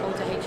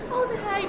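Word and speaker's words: Alder Hey: I was saying to these guys before, I make such an effort to pronounce the H as well.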